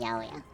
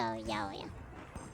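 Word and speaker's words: ヤオヤ: and people nicknamed the 808 Yaoya because 8 can be pronounced Ya, and 0 can be O, and so Yaoya.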